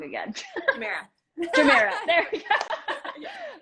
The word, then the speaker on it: Jumeirah: I went to the Jeremiah. How do you pronounce this? Jumeirah.